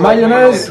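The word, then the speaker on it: Mayones: Alors, attention, vous pouvez le prononcer comme mayonnaise, comme la sauce. Alors, moi, je vais rajouter comme ça le mayonnaise pour que ça sonne un petit peu plus anglais. Mais bon, il faudrait parler polonais, en fait, pour savoir le prononcer.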